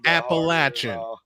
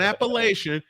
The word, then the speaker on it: Appalachian: Appalachin, not Appalachian, Appalachin.